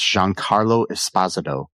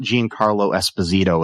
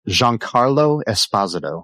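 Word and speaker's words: Giancarlo Esposito: McInley as Davis Rig Lanlow, Jean Carlo Espazado as Charlie Dunt, and I'm going to repeat that. That's Jean Carlo Espazado, not Jean Carlo Espazito as a lot of people want to say, but yeah.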